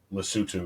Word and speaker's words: Lesotho: It's English. It's Lesotho, but it's Lesotho is how it's pronounced.